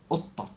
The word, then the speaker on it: قطة: There's the double T, shadda. قطة قطة.